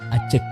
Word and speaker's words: aceuk: Kata pengucapannya accek di e bukan aceuk bukan accek sama beda bunyi. Yang betul ucapannya adalah acek.